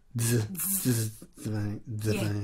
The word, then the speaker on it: Dzivane: Do you pronounce the D in Dzivane? You go. Dzivane. Yeah, that's it.